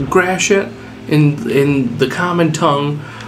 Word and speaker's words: Gratiot: It's pronounced Gratiot in the common tongue, Gratois if you're French, or as the astute of you might say, the shit.